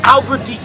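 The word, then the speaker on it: Albverdich: that's how you say his name fairy King Albert deak is a champion the f one of the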